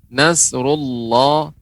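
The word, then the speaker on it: نصر الله: Ketika mengucapkan Nasrullah, Allah pengucapannya tebal. Ini pelajaran sebelumnya ya. Allah tebal. Nasrullah.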